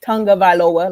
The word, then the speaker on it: Tagovailoa: It's Tagovailoa, like tongue, Vailoa. It's not Tagovailoa.